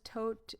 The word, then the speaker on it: Todt: until Anthony Todt, which is kind of funny because Todt is death in German. It's spelled differently.